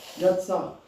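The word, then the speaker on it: יצר: Alors le verbe former se dit Yatsar. Alors, ça s'écrit Y-A-T-S-A-R. Yatsar.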